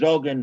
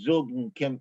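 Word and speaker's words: zogn: It's Zogen, not Zugen, Kumin, not Kimin, Pesach, not Pesach,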